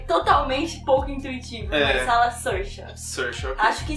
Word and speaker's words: Saoirse: O nome dela se pronuncia Saoirse, mas eu sei disso porque uma amiga canadense explicou, porque esses nomes irlandeses sempre alguém tem que me ensinar, porque sim, é totalmente pouco intuitivo, mas fala Saoirse.